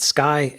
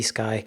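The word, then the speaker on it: Sceye: This airship maker is called, I think, pronouncing it Sky, S-C-E-Y-E, Sky.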